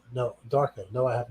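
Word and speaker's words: Donnie Darko: west end right you see the movie donnie danko no darko no i have not second you pronounce it it's a satisfying movement that's what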